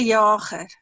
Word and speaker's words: Jager: The speaker is Theo de, how do you pronounce his surname, Nico? Jager? Yeah. Yeah. No, we'll say Theo de Jager.